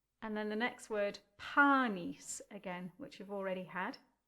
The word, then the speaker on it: Panis: So the first word has two syllables and they are panis. Panis.